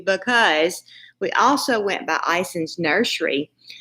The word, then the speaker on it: Ison's: we also went by Ison's nursery it's is ons and they say it like that too so I'm saying it right we went by there